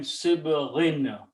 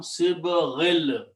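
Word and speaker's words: وَصِبْغٍ: But because of this B, it became Sibghin. Okay. And the next word is Lil Akilina. And when you read in the tajweed together, this noon is pronounced as a lam, Sibghil.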